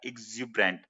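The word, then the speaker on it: exuberant: तो पूरा जो उच्चारण होगा, ज के ऊपर सबसे ज्यादा जोर होगा, एक्सुबरेंट।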